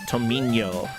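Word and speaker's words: Tomiño: Uh, and yeah, I believe the pronunciation, uh, because there's a tilled over the end, we we can't show it on this font. Thank you so much, fonts, for being limited. Uh, should be Tomino.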